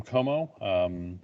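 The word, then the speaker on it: Comeaux: As Diane alluded to, my name is Jim Como. Some of you see it as James.Como. Last name is spelled kind of funky, C-O-M-E-A-U-X.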